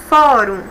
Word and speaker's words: fórum: uma palavra de sílaba eu tenho duas sílabas e a penúltima sílaba é a mais forte quando eu pronuncio olhe fórum então terminou diferente de ar